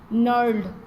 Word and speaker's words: knurled: Okay, this is knurled. Here G is silent.